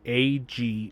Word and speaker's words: Aegon: I have Aegon and pardon me if that's not how it's pronounced. It's Agon O N.